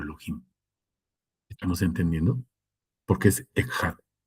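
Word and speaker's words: אחד: Porque es Echad. Y Echad se pronuncia con J, por si se me había olvidado decirles que no hay J en el hebreo, ¿sale?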